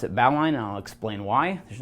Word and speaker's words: bowline: as the bow line um and I do pronounce it bow line and I'll explain why there's nothing wrong with saying Bolan but that's kind of a point of contention